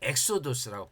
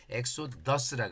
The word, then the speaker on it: 엑소도스: 그것을 엑소도스라 그랬어요. 그래서 그래서 유대인들은이 출애굽기를 출애굽기를 번역을 할 때 엑소도스라고 번역을 했어요.